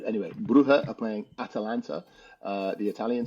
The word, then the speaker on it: Brugge: I mean, your ch is not necessarily guttural enough, but then again, it's Flemish, so it's okay.